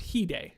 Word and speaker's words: Hyde: Hyde is saying also some people call him Hyde, or pronounced Hide, if that's easier.